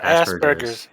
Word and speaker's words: Asperger's: asperger's chargers asperger or asperger's you're saying asperger's especially asperger's sorry is it jurors wait like gerbils i don't know gerber baby food okay let me let me it's aspergers it's a hard g it's it's asperger's yeah